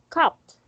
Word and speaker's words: cupped: Next is cupped. Cup. Very good. So this one, the letter E and D is pronounced as T and U is pronounced as A. That is why it's cupped.